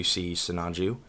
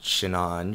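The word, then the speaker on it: Sinanju: you'll see on the HD sonju not shinan for those of you that seem to pronounce it like that and then you get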